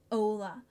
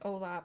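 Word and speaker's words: hola: Ola. That makes sense. I learned Ola before I even saw how it was spelled, and I was always wondering why the H wasn't pronounced.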